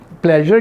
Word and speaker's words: pleasure: अब ये प्लेजर की जो स्पेलिंग है PLEASURE, यहाँ पे शाह नहीं है, प्लेजर, प्लेजर इज माइन।